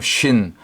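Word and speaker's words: שׁ: 신신 요거는 한 글자인데 점이 오른쪽 가면 쉰 왼쪽으로 옮겨가면 신 발음상의 강력이 좀 차이가 나고 이빨 모양이니까 영적으로는 재와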